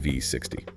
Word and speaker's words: V60: And just for our listeners, it's spelled with the letter V and the number 60, representing the 60-degree angle of the cone, but it is always pronounced V60.